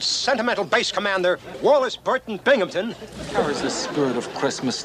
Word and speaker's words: Binghamton: that's uh that's a binghamton there's no pee in that the accent is on the bang what are you waiting